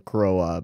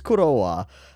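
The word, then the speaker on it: Croix: people talking about like how i'm pronouncing crowa but i think it's kurowa that's what i'm gonna go with um uh she's been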